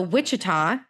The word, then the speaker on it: Wichita: And that is because Ben is from the Wichita.